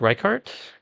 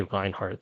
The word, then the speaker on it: Kelly Reichardt: Who's cutting a blank check to Kelly to it's Reichardt? Kelly Reichardt. I was about to say Reinhardt. That would have been obnoxious if I got her name wrong.